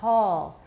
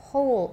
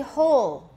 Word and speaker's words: whole: hole hole okay everybody vowel before l the o sound it's not hall it's hole oh do the o everybody whole go on all right